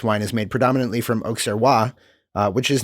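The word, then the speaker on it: Auxerrois: is made predominantly from oxaroa which is not one of the um one of the grapes allowable Oak serwa a u x e r r o i s you do you pronounce the X um yeah you pronounce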